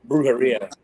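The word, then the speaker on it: Brujería: aside from you know brera and if I'm saying that wrong I'm sorry I think a lot of people say it different ways how do you say it is it bruha bruha bruh okay yeah um Cradle the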